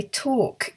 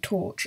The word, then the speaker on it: torc: Now, a tork is, it's not somebody who struggles to pronounce the CH sound saying torch.